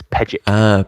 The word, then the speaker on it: Pejic: The correct pronunciation is Pejic. Pejic.